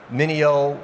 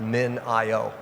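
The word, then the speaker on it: MinIO: or its edge EFS Mineo well they're not I guess they're now called min IO their community voted for a little bit different pronunciation of their name but you know the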